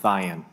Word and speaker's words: Thyen: What is the correct pronunciation? Yes, Chairman, it's Sheriff Thayan. Thayan, all right.